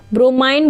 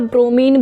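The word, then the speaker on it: bromine: देखिए आपके जो ब्रोमाइन और मरकरी है ना, ब्रोमाइन बोल सकते हो या ब्रोमीन बोल सकते हो, आप दोनों प्रोनाउंसिएशन है वो करेक्ट है।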